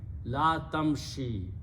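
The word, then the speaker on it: لا تمشِ: in the script this Kasra and this yah have the same sound so I don't need to write this one so the word became La tamshi do not walk okay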